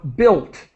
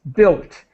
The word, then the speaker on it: built: just the pronunciation of built the U is silent we do not pronounce the U so it's built built okay and who knows